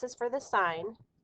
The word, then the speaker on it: sine: the hypotenuse of a triangle is called the sine of angle a sine we abbreviate it s